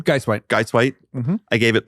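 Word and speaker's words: Guisewite: How do you pronounce her last name? Geiswhite.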